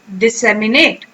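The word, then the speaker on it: disseminate: तो अब मेरे साथ प्रोनाउंस करें, दिस, सेम, ई, नेट। अब आपकी बारी, इकट्ठे बोले, डिसेमिनेट, ओके।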